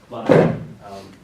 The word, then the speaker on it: Vladimir: He does prefer his name pronounced Vladimir, as it rhymes with Redeemer.